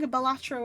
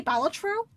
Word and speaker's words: Balatro: And they said that it's not supposed to be Balatro, it's supposed to be pronounced Balatro. Instead of being, like, 3 separate syllables.